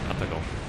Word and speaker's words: Atago: Probably more accurate to say Atago. Atago. Yeah, Atago. I mean, Japanese obviously do not. Well, you like equally pronunciate.